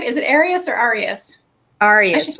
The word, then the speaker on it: Arias: Arias, like the letters.